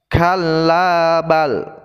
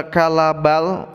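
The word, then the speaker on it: كَلَّا بَلْ: Cara membaca yang benar adalah kallabal rana ala qulubihim ma kanu yaksibun. Ketika kita membaca kalabal, itu kita harus berhenti sebentar tanpa nafas.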